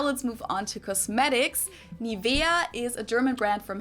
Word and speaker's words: Nivea: English native speakers usually say Nivea. Yeah. Nivea. In German, we say Nivea. Okay. Nivea. So the emphasis is on the E.